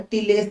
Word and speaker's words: tilde: So the answer is a tilde symbol, a ulta S, you can remember it as. Okay, so it is TILDE. Here D is silent.